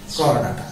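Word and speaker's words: Chordata: একবার আমি করডাটা লিখতে দিয়েছি, সে ডাইরেক্ট করডাটা লিখছে, চড়াটা লেখেনি, তাহলে ভুল হয়ে গেল না? তাই বলে উচ্চারণে কিন্তু চড়াটা বলা যাবে না, এমনি মনে রাখার জন্য বলছি।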